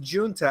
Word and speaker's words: Giunta: is it Giunta? It's pronounced Giunta, as in the month of June.